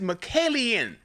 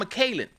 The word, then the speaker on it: McKillian: His name is McKillian. I've been saying John McKaylen.